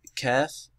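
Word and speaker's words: كاف: For example, this is kaf and noon, not ken or kun.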